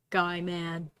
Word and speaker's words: Gaiman: last name but it's like neil gaiman gaiman guy man no yeah it was like he like asked